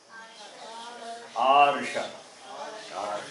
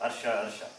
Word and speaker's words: Arsha: Arsha. What is that? This is often mispronounced. Arsha.